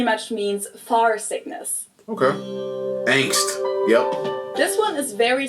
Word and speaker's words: Angst: Angst. Yep. This one is very similar to the German one, but it's not 100% the same. Angst capitalized in German and with the German ah basically just means fear